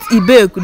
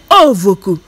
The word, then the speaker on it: Ovoku: beoku but this one they don't call it ibaku they call it i don't know if i'm calling it well it's okay people should not come from you if you know how i can pronounce it say to the comment section it's not a vocal because it scares you it's not a vocal it's ovoku this o v o